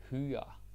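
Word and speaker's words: hyre: so it's easy right because it Rhymes h f higher fire higher fire sounds like a good movie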